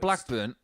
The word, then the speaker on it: Blackburn: Blackburn, because we say it somewhat phonetically, they don't have an R in it. It's Blackburn.